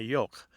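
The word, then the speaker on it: yogh: And those were the thorn, the eth, and the yoke. It's spelled Y-O-G-H.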